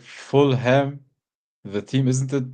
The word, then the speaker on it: Fulham: But isn't like Fulham the team? Isn't it pronounced Fulham? Everybody says Fulham. Yeah, Fulham. Yeah. You don't say like West Ham, but Fulham. It's like Fullum. Yeah. Not H-A.